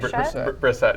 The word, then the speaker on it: Brissett: Brissett.